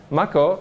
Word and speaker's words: Mach-O: Okay, Mach-O is pronounced the same as a main power source in Final Fantasy VII, but they have nothing in common.